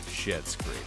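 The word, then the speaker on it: Schitt's Creek: but they pronounce Oh. it shit. That's the joke. Shit's Creek.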